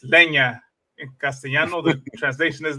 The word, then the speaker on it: leña: that, yeah, it's leña. In Castellano, the translation is leña. Leña. I got it. Leña. And that's spelled Lenia.